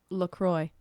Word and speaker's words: LaCroix: LaCroix.